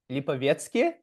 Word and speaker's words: Lipovetsky: all right welcome lipki am I pronouncing that right oh there we go very nice but but you pronounced it like a native Russian speaker I think that's my